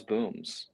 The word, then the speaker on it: BAUMS: And um all these years later now it's booms. So the trajectory has really been something else. So So we have the official pronunciation.